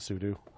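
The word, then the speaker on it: sudo: a superuser do something so I pronounce a su do ya su stands for super user so when you're done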